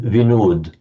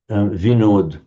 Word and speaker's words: Vinod: You may know the popular Hindu name Vinod. Vinod, which is just the modern Hindi, generally northern Indian way of pronouncing what in Sanskrit is Vinoda.